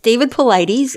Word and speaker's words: Paulides: It's David Paulides, and this specific documentary is from 2019 for Missing 411, The Hunted, like you said.